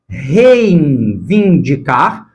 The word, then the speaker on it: reivindicar: por conta desse N, os falantes tendem a nasalizar também o ditongo que está na primeira sílaba. Reivindicar, reivindicar. Só que essa nasalização do ditongo não deve acontecer, e muito menos escrever a palavra assim, está errada.